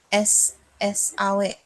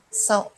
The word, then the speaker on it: saw: S-A-W. Bacanya? So Ya. So. W-nya tuh nggak dibaca, nggak terlalu dibaca. Bukan saw. Kalau saw kamu sebutnya saw artinya gergaji. Ya, tapi kalau so artinya melihat ya.